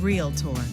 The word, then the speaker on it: Realtor: on the screen here, Realtor means member of NAR. It has 2 syllables. It's not Realtor, Realtor.